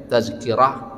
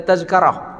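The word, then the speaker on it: تذكرة: Alaihi Wasallam tazkirah ya maka hati-hati membacanya tazkirah Kara jangan sampai terbaca tazkarah Ah ini ini beda kalau tazkirah mauizah Pelajaran tapi kalau tazkarah artinya tiket ya kita beli tiket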